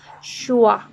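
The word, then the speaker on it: schwa: Then the other, and this is curious, the name of this is Shua. We pronounce this like uh, uh, uh.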